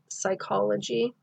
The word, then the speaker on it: psychology: the uterus and then we put ps together we get psychology okay has that soft s sound as well